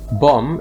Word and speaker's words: bomb: they pronounced very differently bomb is pronounced with an om so it rhymes with the name tom